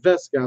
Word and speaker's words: VSKA: follow up video that said vesco that's how you have to pronounce it which that was a